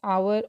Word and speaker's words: hour: in an hour like H is there but without the sound of H we pronounce it as our or our we use